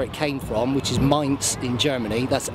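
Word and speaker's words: Mainz: fine spots where it came from which is Ms in Germany that's m a i n z not Mains but pronounced Ms it's a wooden based Scabbard with a frame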